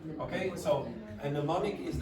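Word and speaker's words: mnemonic: context good make a how do you pronounce that word any ideas pneumonic don't pronounce the m at the start okay so and neonic is like a trick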